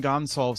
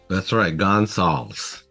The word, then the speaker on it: Gonsalves: to pronounce it, but we'll just call him Gonsalves today because that's how he pronounces it. That's right. Gonsalves.